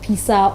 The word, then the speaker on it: Piesa: star your friend John is it Pisa or Bredu Pesa which one more Pisa Pisa Okay. Piesa na pizza no. It's PEASAH. Me patro we pronounce it.